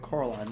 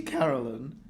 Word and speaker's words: Coraline: as Miss Spink told Coraline the first time she met her. "You see, Caroline," Miss Spink said, getting Coraline's name wrong. Almost got me saying it wrong.